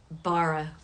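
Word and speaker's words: ברא: That word we pronounce bara. Although the aleph, which comes at the end of that, the aleph is a silent letter.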